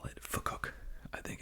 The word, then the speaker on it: FCUK: wonderful uh viewers from the UK said it's pronounced FC UK so they don't say I really want to call it Fook I think it's just great sounds like it